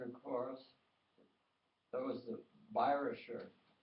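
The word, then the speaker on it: Bayerischer: course that was the byrosher viruser means bavarian uh the german pronunciation pronunciation of bavarian chorus and then there was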